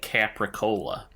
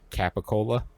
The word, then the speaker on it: capicola: But I realized that Coppola sounds like capricola, the kind of ham. Capicola? Capicola. The R is not pronounced, at least not in the Bostonian dialect of English.